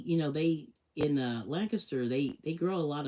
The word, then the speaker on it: Lancaster: of, you know, they call it L it's Lancaster. It's not Lancaster or whatever, but that's how they pronounce it is Lancaster.